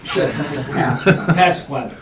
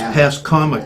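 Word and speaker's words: Pascommuck: Can I make a minor correction in the pronunciation of our name? Pasquamic. It's Pascomic, Pascomic.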